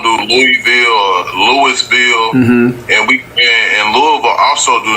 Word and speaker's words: Louisville: Tell us how people from Louisville pronounce it. It's just Louisville, like Okay.